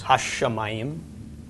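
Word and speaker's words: השמים: Yes, ha-shamayim. Drag out the sh a little bit in the pronunciation.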